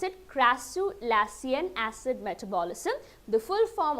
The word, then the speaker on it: crassulacean: That is how you pronounce it, crassulacean acid metabolism, the full form of the CAM plants.